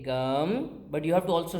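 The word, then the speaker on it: गं: And so what's the actual way of pronouncing it? It is gum, right?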